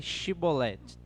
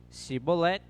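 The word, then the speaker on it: Shibboleth: declarava não lhe ordenavam então disse shiboleth se a pessoa dissesse se balé sem conseguir pronunciar corretamente a palavra prendiam essa pessoa eu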